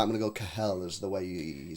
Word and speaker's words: Kehl: Borussia Dortmund director Sebastian Kehl, right, I'm going to go Kehl as the way you say his name, on Erling Haaland.